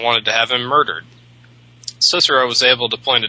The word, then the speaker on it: Cicero: And by the way, I'm pronouncing Cicero in English because otherwise it'd be Cicero, and I don't think anybody would know who the hell I'm talking about if I said Cicero. All C's are hard in Latin.